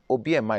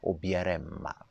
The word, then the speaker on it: obiarema: So people tend to omit the ra part. I sometimes tell people when I'm talking to them and say obiema. It's fine. We understand what you're saying, but the correct way of saying it is obiarema, right?